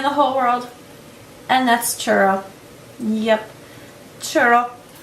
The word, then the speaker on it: churro: whole world, and that's Churro. Yep, Churro. I can't say it like they do. They roll the tongue.